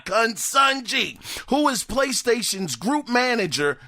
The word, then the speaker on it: Consunji: struggle with this but I think it is kungji it's spelled c o n s un nji consunji who is PlayStation's group